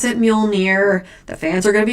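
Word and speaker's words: Mjölnir: You have to pronounce it Muolnir.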